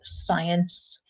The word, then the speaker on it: science: and with the pronunciation just be really careful with science because that C is silent there's science fiction and